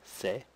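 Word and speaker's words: せ: u sound so TSU the next sound is the e sound say and the last sound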